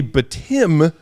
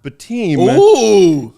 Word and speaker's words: Bitim: got the pronunciation right it's actually btim not B team and I appreciate you